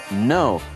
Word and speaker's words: know: 是不发音的，都是发 N 的音而已。所以呢 knock。K-N 的 N 发音，K 不发音。其他的例子，比如说 know，知道事情的 know，K 不发音。打结的 not，K-N-O-T，K 也不发音。跪下来的 kneel，K-N-E-E-L，K 也是不发音的，这个要特别的小心。接下来学动词 apologize，